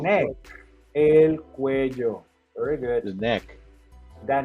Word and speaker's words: cuello: Sometimes students, they have issues with the pronunciation of this word because they say cuello. Cuello. Remember, in this case, double L is like a J sound.